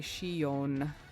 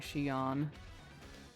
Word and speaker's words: Shion: I keep pronouncing his name weird. It should be Shion, and I keep saying Shion. I don't even know where I'm picking that up from.